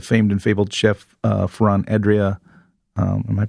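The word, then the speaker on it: Adrià: The famed and fabled chef Ferran Adria, am I pronouncing his name wrong? Adria?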